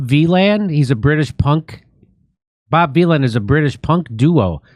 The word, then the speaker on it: Bob Vylan: Oh, Bob Villain. Bob Villain. Like what did I call? What did I say? Violin. Violin. Bob V. Villain. Well, it's spelled like Well, it's spelled like Dylan with a V.